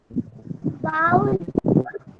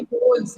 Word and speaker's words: bowl: ठीक है, जो आप बाउल बोल रहे हैं ना, ये bowls हैं, ठीक है ना? ओके, आपने सही बोला, बस थोड़ा सा प्रोनाउंसिएशन करेक्ट करना है आपको।